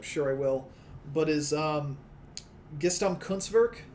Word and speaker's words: Gesamtkunstwerk: mispronounce, which I'm sure I will, but is Gesamtkunstwerk. It's a German word. Sounds like you pronounced it right.